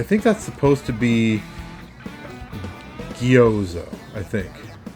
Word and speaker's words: Gjoza: It's spelled Gyoza, but I think that's supposed to be Gyoza, I think. Basically the Germanic J that's pronounced like a Y.